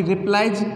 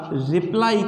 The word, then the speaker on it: रिप्लाई: अगर रिप्लाई को हम बिल्कुल सही प्रोनाउंसिएशन में लेके चले बेटाओ, तो रिप्लाई को हम इस तरह से उच्चारित करेंगे, इस तरह से हम रिप्लाई, ठीक है, रिप्लाई। कई इसको यार रिप्ले बोलते हैं, कोई रिप्लाई बोलता है, ऐसे इस